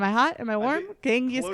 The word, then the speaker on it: Genghis Khan: Genghis Khan. Close enough. I think that's Genghis an acceptable pronunciation.